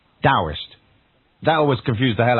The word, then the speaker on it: Taoist: oh I st so it's written terrorist and pronounced with a d' Daoist that always confused the hell out of me